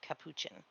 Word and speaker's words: Capuchin: Oh, and, Um, Galfrey clarified that that's pronounced Capuchin.